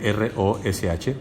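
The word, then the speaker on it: ראש: Se escribe R-O-S-H, Rosh, que habla de un jefe que tiene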